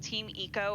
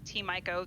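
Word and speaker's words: Team Ico: a development studio called team eco or t-mico the pronunciation series depending on who you ask and design gen design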